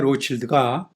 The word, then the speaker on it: Rothschild: 로드라는 와인을 좋아하실 텐데요 이들 와인 이름의 로칠드가 로스차일드의 프랑스식 발음이고 로스차일드 후손들은 아직까지 이들